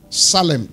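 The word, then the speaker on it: tselem: Salem. T-S-E-L-E-M. The T is silent.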